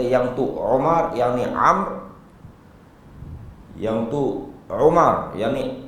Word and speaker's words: Amr: Kalau kita tengok, dia akan tulis Amr ataupun Amru. Dia sebenarnya Amr.